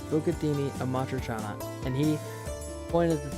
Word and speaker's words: Amatriciana: I told him, like, this is how you pronounce it. It's Bucatini Amatriciana.